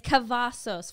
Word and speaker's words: Cavazos: I've heard it's Cavazos for anyone who's confused on how to pronounce it.